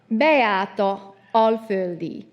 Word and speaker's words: Beáta Alföldi: Her name is Beáta Alföldi, but it's actually a Hungarian name, so I'm going to quickly give the Hungarian pronunciation. It's Beáta Alföldi.